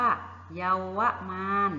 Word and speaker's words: เยาวมาลย์: นะ คะ คำ ว่า เยาวมาลย์ ค่ะ อ่าน ว่า เยาวมาลย์ นะ คะ เด็ก ๆ สังเกต ดู คำ นี้